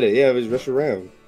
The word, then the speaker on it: Reshiram: Yeah, it was Reshiram. How is R-A-M Rom if R-O-M is Rom? It's like your computer, RAM. It's a short A.